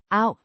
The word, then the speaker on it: af: preposition meaning of, pronounced Av. similar to off, but with the sound more centralized.